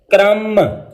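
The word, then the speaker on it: crumb: तो ये इसकी प्रोनाउंसिएशन हो जाएगी क्लाइम, क्रम, डम, काम।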